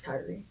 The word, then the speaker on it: Tyree: Last night we watched the video for the Tyree Nichols video. I'm not sure how you pronounce his name. Tyree. It's Tyree.